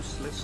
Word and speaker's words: Sliske: Wingardium Sliske.